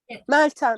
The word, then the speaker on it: Meltem: Is it Meltem? Or is that how you pronounce it? Yes, it is true. Meltem Okay.